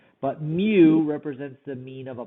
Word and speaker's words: mu: opposed to this symbol right here which we pronounce as mu and mu represents the mean of all the population value